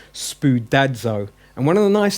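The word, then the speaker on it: σπουδάζω: and practice pronouncing it notice it's spewed dad's oh there's a d with the Zed for the zeta yeah so it's not spewed as oh but is spewed dad's oh and one of the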